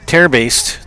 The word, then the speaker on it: Terbase: This is Terbase, the batter. Lou Terbase. That's how we were instructed to pronounce her name.